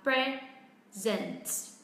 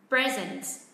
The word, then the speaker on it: present: Present. Còn nếu như nó đang ở dạng là verb thì trọng âm lại rơi âm tiết thứ hai. Chúng ta đọc là present.